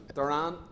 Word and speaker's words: Doran: Whereas Doran would be the Irish pronunciation but as he says people just know him as Pat Duran.